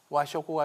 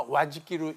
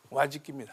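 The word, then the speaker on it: 和食: 일본 사람들 그래서 일반적으로는 이걸 와쇼쿠라고도 하는데 사실은 이건 와쇼쿠가 아니라 와지키로 읽어야 합니다. 근데 요즘은 세속적으로 와쇼쿠라고 읽는데 와지키입니다. 와지키.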